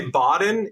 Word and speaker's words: Baden: of you out there it is we say Baden if you say benen or Baden no harm no